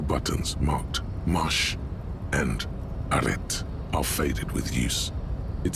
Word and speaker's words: arrêt: Okay, you don't pronounce the T in arrêt, by the way.